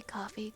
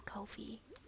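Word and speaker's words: Ko-fi: I still like to say coffee because I hate how the company wants to say it. When I look at the word, I typically don't envision it as Kofi.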